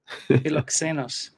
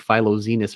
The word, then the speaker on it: Philoxenos: Philoxenos. Philoxenos. I would think I was saying like Philoxenus or something.